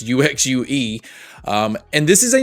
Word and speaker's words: UXUE: Uh I don't think it's pronounced you you shoe. I think it's UXUE.